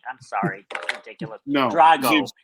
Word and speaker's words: Drago: Drago, not no.